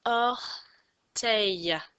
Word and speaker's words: orteils: mets des petites vagues le s ne se prononcent pas c'est or tails savez vous ce que